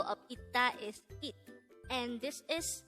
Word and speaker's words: 있다: And by the way, if you notice, the first syllable is not pronounced as is, but it is pronounced as it.